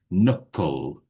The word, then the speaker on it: knuckle: And we have a silent K there, so we don't say the K, we just knuckle.